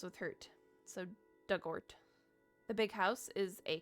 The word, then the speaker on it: Dugort: Pronunciation dug like the past tense of dig. Orort rhymes with hurt. So dugort.